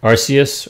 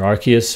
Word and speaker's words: Arceus: I also like Arceus, or Arceus, however you want to pronounce it.